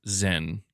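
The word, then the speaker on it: Xen: Yeah, so it's pronounced Zen.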